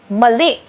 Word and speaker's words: mali: For example mali. The eye has the accent.